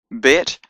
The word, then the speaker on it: Bet: Bet has a B sound, B as in boy, and the third letter, Gimel, has a G sound, G as in God.